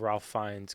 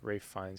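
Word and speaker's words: Ralph Fiennes: And they already are saying that they'll have Ralph Fines coming back or Rafe Fines, however you develop it. Uh, I mean, pronounce it.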